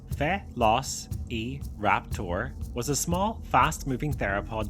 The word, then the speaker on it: Velociraptor: Velociraptor, pronounced Fe-los-e-raptor, was a small, fast-moving theropod dinosaur that lived